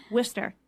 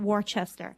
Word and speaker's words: Worcester: to pronounce Manchester but even more importantly like Worcester they know how to pronounce whisper it's not worchester mm-hmm things like that you know they learn